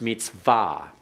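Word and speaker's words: מִצְוָה: and then we have Mitsuwa in modern Hebrew that's pronounced meets VA and that means command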